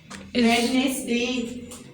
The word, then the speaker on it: Wednesday: Wednesday. Okay? This is wrong pronunciation. It's Saturday. Okay? Wednesday. D is a silent. We will not pronounce this D.